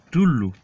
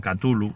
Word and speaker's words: Cthulhu: Y entonces en español la pronunciación sería más bien Cthulhu. Bien, una C muda, ¿vale?